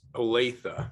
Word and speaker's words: Olathe: From near Kansas City, because I can't pronounce Olathe, Kansas. Jason, tell us more about yourself. I'll help you there. It's Olathe. Everybody has a problem with that one.